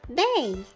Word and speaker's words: ve: V in Spanish is pronounced bay.